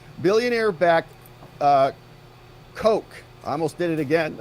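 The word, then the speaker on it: Koch: around for whatever reason oh it's pronounced the Coke brothers oh it's the Coke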